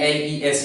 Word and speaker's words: les: And L-E-S, le, the last consonant is mute.